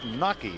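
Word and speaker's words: Knake: Here's 24-year-old Max Nake. It's spelled K-N-A-K-E.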